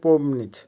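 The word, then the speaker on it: помнить: ধোয়া ভার্ব পম নিচ আবারো বলছি উচ্চারণ হবে পম নিচ পমনিচ এর বাংলা হবে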